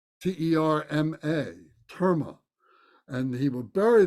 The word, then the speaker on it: terma: They were called terma, T-E-R-M-A, terma.